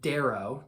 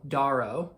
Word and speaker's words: Darrow: the main character's perspective, Darrow. Daro, depending on how you're going to pronounce it, but Darrow is how I read it in my brain.